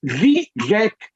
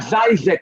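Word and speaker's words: Žižek: Mine is Zizek, Vivek. It's not Zizek or what, so it rhymes even more than it may appear.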